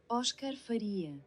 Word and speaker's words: Óscar Faria: I'm not sure if I pronounced it right, so let Google pronounce it for me. Oscar Faria.